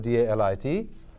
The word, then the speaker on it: Dalit: Dalit is this very simple word, D-A-L-I-T, and it comes from the word, actually it's not pronounced Dalit, it's pronounced Dalit, and Dal is what is crushed.